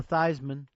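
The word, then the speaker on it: Theismann: Joe Thyman. Rhymes with Heisman.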